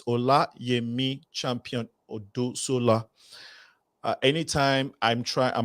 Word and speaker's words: Olayemi: We are talking to Dr. Oluyemi. No, it's Olayemi Champion-Odusola.